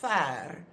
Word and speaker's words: ver: which is the word ver, ver, which is pronounced like it should have a copy e, but it is always written without the copy e.